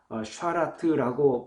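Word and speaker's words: שרת: 여러분, 섬긴다는 말은 히브리 말로 샤라트라고 발음을 하고 있는데, 성전에서 봉사하는 일을 주로 할 때 사용하는 단어가 샤라트, 이렇게 발음을 합니다.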